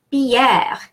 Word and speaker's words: Pierre: Now, why do I pronounce E? The E in the middle there is pronounced E because it's followed by two consonants. It doesn't have an accent, so typically I pronounce E when I have an accent. Well, this doesn't have an accent, but it's followed by two consonants, not only two consonants, but two R's.